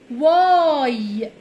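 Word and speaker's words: why: تعالوا نشوف بنقراها ازاي الدبليو بننطقها بصوت حرف الوا و واه زي صوت حرف الواو كده شويه والاتش هنا سايلنت مش بننطقها واي واي معناها لماذا ليه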